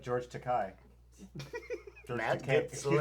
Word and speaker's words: Takei: George Takei. Yeah. George Takei, internet. I know. It rhymes with gay.